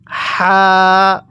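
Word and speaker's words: حاء: এরপরে এই হরফটির নাম হা তাহলে আমার সাথে পড়ুন হা দেখুন আমি কিন্তু হা টা উচ্চারণের সময় মুখ দিয়ে হালকা বাতাস বের করছি কিভাবে পড়বো হা হ্যাঁ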